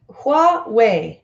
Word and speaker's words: Huawei: criminal charges all right Kwok way Huawei is how it's pronounced Getty image image attention